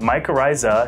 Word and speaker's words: mycorrhiza: tried to pronounce it well technically it's called my coryza and the singular or my crazy in the plural and it describes a